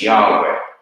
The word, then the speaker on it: Yahweh: Most Hebrew scholars believe that the original pronunciation was Yahweh, either Yahweh or Yahweh.